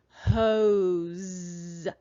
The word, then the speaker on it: hose: that i am saying hoes i know the letter s is making its voiced sound and that's because it is coming right after a vowel sound when the letter o